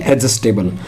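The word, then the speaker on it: adjustable: Easy going यानी कि एडजस्टेबल। ए और जे के बीच में, ए और जे के बीच में जो है डी जो है साइलेंट रहता है, एडजस्टेबल।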